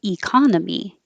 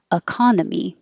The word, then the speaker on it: economy: say it both ways the e can sound like e or it can sound like uh so some people say economy economy and others say uh economy when you don't really